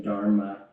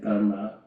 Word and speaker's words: Dharma: to retrain myself because there's an Americanized pronunciation, Dharma, and I find myself using that pronunciation, which is a kind of alienation from the culture of my parents. So I'm really trying to say Dharma, part of the training.